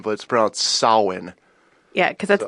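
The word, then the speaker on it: Samhain: h AI n but it sprouts soin yeah because I'd like Gaelic pronounced e yes it is yes yes and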